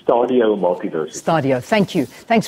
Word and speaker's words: Stadio: Yes, it's Stadio Multiversity.